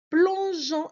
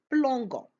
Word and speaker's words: plongeant: Mais avec nous, on doit rajouter le e entre e, entre g pardon et o pour la prononcer plongeant et non pas plant.